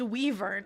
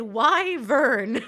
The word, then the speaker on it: Wyvern: I always thought it was pronounced Weavern. I'm not the only one, okay? But back when I played The Witcher 3, I noticed that the characters pronounced it Wyvern.